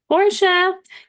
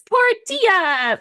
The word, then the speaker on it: Portia: chats, I'm like, it's Portia, but Yeah. it's Portia. But that's how you spell it. If you ever want to look me up, just think Portilla. Portia.